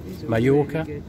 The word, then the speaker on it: Mallorca: Two L's is a Y in Spain, okay? Mallorca, two L's, paella, two L's, Marbella.